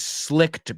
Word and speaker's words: slick: It rhymes with trick.